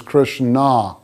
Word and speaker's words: Krishna: at the crown and her sanskrit name is krishna with a long a as opposed to christian with a short a so krishna guna varna